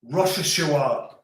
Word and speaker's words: Rochechouart: Am I pronouncing Rochechouart? Right. R-O-C-H-E-C-H-O-U-R-T. Rochechouart.